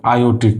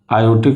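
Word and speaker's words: aortic: आयोटिक। क्या होता है? आयोटिक वाल्व आर इसमें साइलेंट हो जाता है। इसलिए इसको हम क्या बोलते हैं? आयोटिक वाल्व बोलते हैं।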